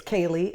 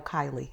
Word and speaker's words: Kayleigh: his granddaughter okay um he gets my name wrong a lot how fast did i between the okay it's kaylee and i go kylie kylie what is kaylee okay sometimes he calls me kayla uh my the grandfather